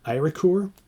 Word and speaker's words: Eiríkur: It's Eirikur, K-U-R. So Eiríkur.